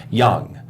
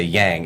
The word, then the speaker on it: Young: he's Taiwanese and uh his name is uh Thomas Young and everywhere he goes, they say Yang and it actually really upsets him.